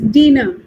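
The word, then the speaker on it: Diener: roids are discovered by Dana Dina we pronounce it as Dina dinner please mute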